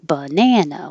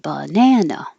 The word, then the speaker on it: banana: alternate way species species banana very american use of uh in the unstressed syllables that get shorter so the ba and the should be short and then gets very long banana one two three banana